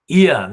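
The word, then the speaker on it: Iain: Ian is spelled I-A-I-N, who has got an apparent stylistic moderation which conceals his fascistic, anti-democratic, authoritarian agenda, personality, and approach.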